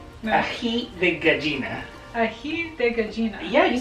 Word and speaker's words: Aji de Gallina: Alright, Anita Hadida? No. Aji de Gallina. Aji de Gallina.